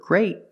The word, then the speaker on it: great: But the word great has a T and we pronounce it with a stop T.